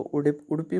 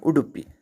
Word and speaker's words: उडुपी: इसको उडुपी बोलते हैं। इसकी स्पेलिंग UDUPI होती है। UDIPI भी कई जगह पर लिखी होती है, जैसा यहाँ भी लिखा हुआ है। और ODIPU ओडिपू भी लिखा रहता है, लेकिन लोग वहाँ के लोकल्स प्रोनाउंस करते हैं उडुपी। उडुपी भी एक आध जगह मैंने सुना था, लेकिन उडुपी कॉमन है।